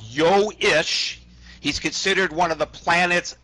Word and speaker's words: Ish: that really your name ish ish just happens to rhyme with fish um I actually shortened